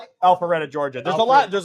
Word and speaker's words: Alpharetta: So, Frankie is like he got Alfreda. How do you say that? Alpharetta, Georgia.